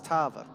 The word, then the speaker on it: Tavo: M to Tavo uh for continuously mispronouncing his name and putting a random r in it it's Tavo Tavo Tavo Tavo look